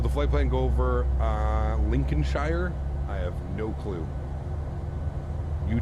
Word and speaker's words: Lincolnshire: Pronounced Lincolnshire.